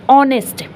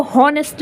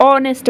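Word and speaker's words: honest: भी एन लगता है ऑनेस्ट देखो नेस्ट नहीं कहते हम लोग ऑनेस्ट बोलते हैं तो उसके आगे भी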